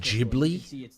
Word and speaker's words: Ghibli: It's pronounced Jibli. Studio Ghibli. Studio Gibli.